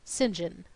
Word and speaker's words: St John: plenty of his own his name was Cuthbert St John pronounced singen he had four names